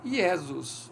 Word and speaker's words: Iesus: Então, essa pronúncia aqui era Iesus, Iesus Nazarenos.